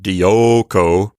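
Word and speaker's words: διώκω: me pronounce it like dyoko that's because the o sound there is an Omega which is a long o sound so Delta Iota Omega Kappa is the stem of the verb and then we'll add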